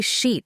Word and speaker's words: sheet: Just say sheet like beach with an SH."